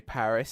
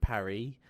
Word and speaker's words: Paris: the same way like we say Paris instead of Parry um because we're English